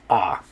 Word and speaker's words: a: okay anyway you know i've seen english speakers that will say a or or uh when they see that but it's the way you pronounce in spanish is ah okay all right okay